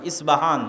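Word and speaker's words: اصفهان: আমরা প উচ্চারণ করি ইস্পাহান আরবিতে এটা উচ্চারণ হয় না আরবিতে হয় আল আসবাহানি বা উচ্চারণ হয় ইসবাহান বা আসবাহানি সেখান থেকে 70 হাজার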